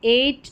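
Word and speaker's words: eight: यानी कि ई आई जी एच को ए पढ़ते हैं। तो यहां पर है एट इ आई जी एच है। एट वेट नेबर और यह है फ्रेट और यह है स्ले। तो यहां पर ई आई जी एच इ आई जी एच ए की ही ध्वनि देता है ये नंबर 18 पर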